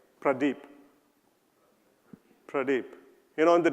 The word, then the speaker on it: Pradeep: how many of you can say my name Pradeep Pradeep you know in the days it was